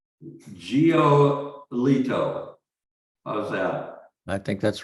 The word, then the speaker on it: Giolito: Can you pronounce his name for me? I would say Giolito. How's that? I think that's right. Giolito.